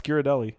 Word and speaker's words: Ghirardelli: It's Ghirardelli.